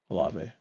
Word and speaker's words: Olave: And I got Olve or Olve. How do you say his name? Olave.